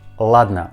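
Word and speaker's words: ладно: i mean first two letters or but we pronounce these two letters all like next russian word ladner ladna probably you didn't know about this russian word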